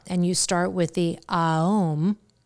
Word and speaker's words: Aum: The ancients used to pronounce Om, that's a commercialized version. It was actually Aum.